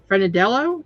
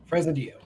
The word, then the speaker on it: Fresnadillo: John Carlos Frenadello, is that how you say it? Fresnadillo. There we go.